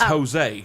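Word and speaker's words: Hosea: was going to say his their last name is jose and it is spelled with an h h-o-s-e-a really yeah okay so he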